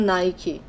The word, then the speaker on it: Nike: give us a Asha those novels outdoors that Nike also notice how I pronounced Nike that's how we say in Brazil